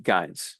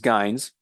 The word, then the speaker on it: gyne: then also new queens, which we call at this stage gynes. It's spelled Gyne, plural is Gynes, and those gynes are going to be next year's queens.